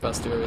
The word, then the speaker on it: bestiary: Because it's bestiary, or bestiary. I learned that it's pronounced bestiary the other day.